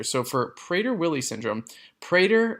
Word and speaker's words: Prader: So for Prader Willie syndrome, Prader rhymes with Vader.